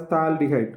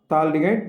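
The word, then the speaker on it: phthalaldehyde: Now, In common system, it is called as thaldehyde. What is this called? Thaldehyde. This is silent.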